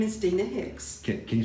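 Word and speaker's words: Deana Hicks: again what's what's your name my name is Dina Hicks okay can you spell that for me yes it's d-e-a-n-a and then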